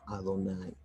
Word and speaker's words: Adonai: con el nombre superior, Yud Ke Vav Ke, que es el que pronunciamos como Adonai.